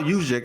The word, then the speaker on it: Juszczyk: And then on the other side, Kyle Juszczyk, I think that's how you say his name.